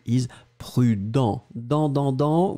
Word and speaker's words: prudent: And then the second one, B, is prudent. Dans, dans, dans. Well, you end with this nasal. Final T not pronounced, obviously.